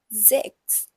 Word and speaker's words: sechs: This letter S has a little bit of a Z sound in it. So it's pronounced sechs.